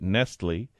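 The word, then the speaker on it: Nestlé: unneeded unneeded unnecessary wasteful that's Nestle with an E Accent on the E right Accent on the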